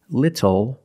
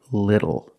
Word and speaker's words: little: but phonetically it is when you see tle or ttle phonetically the t is between vowels and for this reason the T changes to a fast D in American pronunciation that's why we do not say little we say little and we do not